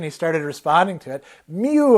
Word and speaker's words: Mieux: Mew, of course, the name of the sound that she would make, Mew. So, and it was spelled with kind of a French spelling.